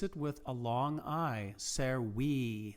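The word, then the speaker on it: servi: with a long i ser we that's pronounced like if it was like a double e ser we conus was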